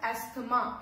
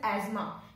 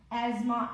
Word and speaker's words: asthma: People pronounce it as asthma. It is not asthma. Spelling उसकी ऐसी है कि वो ऐसे प्रोनाउंसिएशन उसका निकल सकता है कि वो एस्थमा है, बट the real pronunciation is एज्मा, एज्मा एंड नॉट अस्थमा, एज्मा.